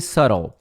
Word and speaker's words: subtle: Detalhe na pronúncia de subtle não é subtle, né? É subtle, subtle. Então esta palavrinha aqui quer dizer sutil. Pronúncia é um s e um tol. Subtle, subtle, subtle, subtle, tá? Aquele B lá não pronuncia, não é subtle, é subtle, subtle.